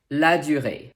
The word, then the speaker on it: Ladurée: me evian number five la durre two half things here the french r of course and the sound you will need to shape your mouth like this also remember that the last e is silent and the previous e as the so-called axon tagu so it's a lagiore